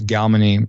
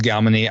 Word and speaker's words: Galmany: So you try to find the Warlord's base in one of the cities of Galmany. I pronounce Galmany. I've heard other people like you, Jeremy, say Galmany.